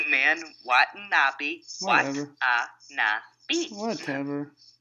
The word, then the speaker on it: Watanabe: Adam Page with BJ Whitmer versus Will Ferrara versus Takaki Watanabe versus Moose. Who do you got? It's Watanabe, man. Watanabe. Whatever. Watanabe.